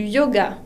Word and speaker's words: yoga: Une autre expression, faire du yoga. Faire du yoga. La Y se pronuncia como una I latina. Yoga.